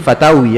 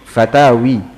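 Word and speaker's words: فتاوى: itu juga kumpulan pertanyaan-pertanyaan pengucapan yang yang shahih Batawi ya bukan fatwa itu yang lebih fasih fatawi majmu al-fatawi kumpulan-kumpulan fatwa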